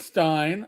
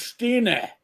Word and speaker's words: Stein: No, it's not Stein." I went, "Well, we would say Stina. It's Stine." I'm like, all right. Thank you, Doc, for telling me how to pronounce it the proper German way.